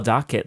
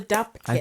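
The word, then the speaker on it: Dopp kit: dop do do do I always call a dock kit doc oh I think it's do what's the correct word it's it's a yeah it's called a do kit I think saying it wrong for 38 years what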